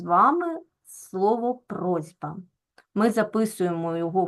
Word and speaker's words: просьба: бачимо що у нас дзвінкий звук Б вимагає від глухого с дзвінкості тобто робить його подібним собі дзвінким зі просьба Так ми вимовляємо з вами просьба а в транскри записуємо